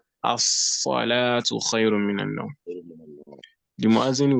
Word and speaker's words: الصلاة: But to pronounce salat, when alif and lam comes up before it, you won't say al-salatu. You won't say al-salatu. What would you say? Who knows? الصلاة. As-salatu. As-salatu.